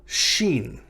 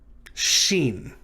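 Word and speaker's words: shin: sat like scene is it's pronounced like s and h in the word ship or shot or shoot um but because it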